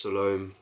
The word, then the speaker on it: Salome: very beautiful scent lush some loam or salom leave it's pronounced Salome by Papillon I think